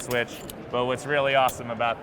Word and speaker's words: SWCH: So SWCH, I pronounce it switch.